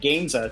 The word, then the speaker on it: Gamesa: Well, you had it right because you said Gamesa because that's what it looks like, an easy way to spell it.